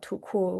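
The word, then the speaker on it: 土酷: is this aesthetic called tuku, which is, it translates to earth cool, but it kind of means rural cool. It also is pronounced too cool.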